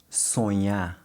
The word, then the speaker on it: sonhar: the same sound, but if you listen carefully, there is a subtle difference. Let's compare a few similar words from both languages side by side and see if you can hear the difference. Montaña in Spanish Montaña. versus montanha in Portuguese. Montanha. Baño in Spanish Baño. versus banho in Portuguese. Banho. Sonhar in Spanish Sonhar. versus sonhar in Portuguese. Sonhar.